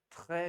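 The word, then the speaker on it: très: वह टी आर ई एस, इसका उच्चारण है ट्रे, फेंकना, आह, ट्रे, है ना?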